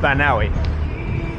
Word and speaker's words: Banaue: to this evening's destination which I've learned is pronounced I think banawi I was trying to confuse the triple vowel at the end yesterday cuz it's b a n a u e but now and supposed